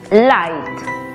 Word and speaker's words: light: Aplicando la regla, la GH es muda y la I toma su sonido abierto. Por lo tanto, la pronunciación es light.